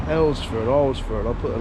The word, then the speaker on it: Alresford: Just asked one of the locals how you correctly pronounce the name of this town, and the locals call it Alresford. It's River Arl, so Alresford, so take what you will from that, but there's an awful lot of history in this little town.